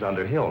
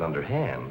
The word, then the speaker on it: Underhill: Mrs. Underhill, not Mrs. Underhand, Elizabeth.